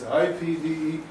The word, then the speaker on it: IPDE: this is it what how would you pronounce that it's ipde they pronounce it the ipd process ipd process ipd process in